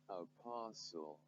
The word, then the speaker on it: apostle: So quickly, let's move on to some of the examples where S, T, L, E are present and then they are silent.